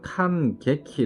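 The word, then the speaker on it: 感激: 땀 선택지의 뒤 난 칸 깨 키 라고 발음 하셔서 감격스럽다 할 때 감적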